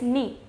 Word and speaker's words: knee: The next word that we have is knee. Now, knee is a part of our body. Then again, K is there, N comes after it. So we are not going to pronounce K.